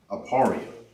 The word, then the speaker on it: Ephraim: Now how you say Ephraim in the ancient Hebrew is pronounced Aparia. Aparia and that means I am fruitful.